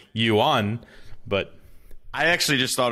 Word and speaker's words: yuan: way it is now technically I was actually pronouncing it a little bit wrong it should be like yuan but I actually just thought it was the the Wan like like no that's the coin in Mexico